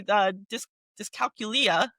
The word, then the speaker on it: dyscalculia: Especially math and me, dyscalculia. I just learned how to pronounce that word.